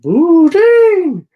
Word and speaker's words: poutine: And the moose made like a noise, and it was like, poutine, poutine. So they got the name of it by poutine. So that's how it's. You mean poutine? Poutine is how you pronounce it.